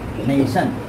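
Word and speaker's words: nation: हम लिखते हैं एन ए टी आई ओ एन, नेशन।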